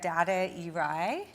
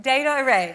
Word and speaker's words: Data Array: Tanya Doss, um, vice president of strategy at Data Eye, is it? Is that right? Data Array. Data Array. I said it wrong.